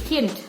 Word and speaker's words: Kind: Oke, untuk bacanya Kind. Jadi ada D di belakangnya, cuman D-nya jangan terlalu jelas diucapkannya, jadi Kind.